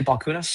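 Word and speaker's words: Balchunas: post from Eric B I think you say Balcunas Is that how you say it?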